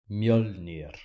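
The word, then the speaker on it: Mjölnir: Mjolnir. What? Mjolnir. Is everyone getting this? Mjolnir. That's how you say it in Icelandic, apparently.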